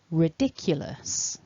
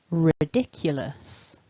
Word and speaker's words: ridiculous: syllables back together then remember stress the second syllable repeat after me ridiculous ridiculous ridiculous great work today so